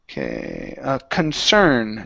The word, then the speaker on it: concern: Next up, we have the word concern. So our stress is at the very end.